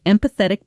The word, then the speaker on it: empathetic: You might say, "She's one of the most empathetic people I know. She never makes you feel judged when you open up to her." Here's a quick pronunciation note. The stress falls on the second syllable.